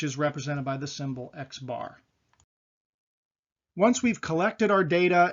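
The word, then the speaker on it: x̄: language of social research the mean is represented as an x with a bar above it oftentimes that's pronounced x bar and you'll see that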